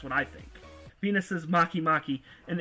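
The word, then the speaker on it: Makemake: Venus is Maki Maki, and it's actually spelled Make. That's how it's spelled.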